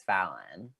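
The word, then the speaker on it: Falynn: was it spelled f-a-l-y-n-n her name's fallon oh my god but they she they pronounced she pronounced it phelan fallon and she's the one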